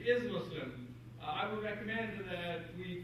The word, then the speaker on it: Muslim: to avoid that and some people even spell it with M Oz because they want to pronounce it exactly as it sounds uh so I'd like to suggest that uh if you hear people uh use that expression uh help them understand that Muslim is the correct uh pronunciation now let me